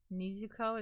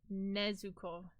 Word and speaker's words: Nezuko: Your one coworker came to the back and said Nezuko is ready to go home. It's Nezuko.